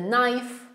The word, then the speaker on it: knife: For example, I know, my knees, the knife. Okay? These are all k, n at the beginning, so no k. K is silent in here.